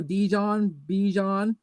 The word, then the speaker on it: Bijan: They're like think Dijon mustard, and there you go, Bijan Robinson.